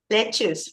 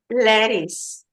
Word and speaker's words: lettuce: lettuce this is lettuce the pronunciation of this one is tricky because it's Leu right but you have to pronounce it lettuce lce lettuce okay very good and